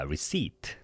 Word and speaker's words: receipt: P는 발음 안 된다 그랬어요. 묵음입니다. silent예요. 자, receipt 이렇게 발음하시기 바랍니다.